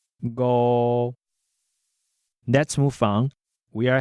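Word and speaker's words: 五: In Tai-gi, 5 is pronounced go, go.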